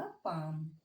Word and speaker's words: palm: अब next line देखेंगे तो क्या हुआ, यहाँ पे हमने देखा कि यहाँ एल साइलेंट है। ओके, सभी में यहाँ भी एल है, वाक में भी एल साइलेंट था, चाक में भी एल साइलेंट था, और पाम में भी एल साइलेंट है।